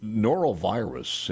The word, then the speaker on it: norovirus: So before I forget here, and I haven't even had any eggnog this morning, the norovirus, am I pronouncing that right?